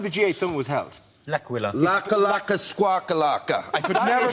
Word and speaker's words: L'Aquila: L'Aquila. Laka squawkalaka. I could never pronounce that word. That's okay. It is a night of bad Italian impersonation, so we'll let you in. But it's called L'Aquila.